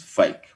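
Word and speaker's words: PHEIC: emergency for international concern, whose acronym is pronounced FAKE, and which ultimately as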